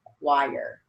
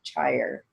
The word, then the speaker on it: choir: as KW long IR, choir. Sorry about that. Otherwise it'd be chire. Even though it's spelled with CH, it has that qua sound. So we write it as KW long IR, choir.